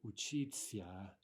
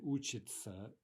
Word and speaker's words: учиться: We write that, but we actually pronounce those as if the ending were a ts-a, right?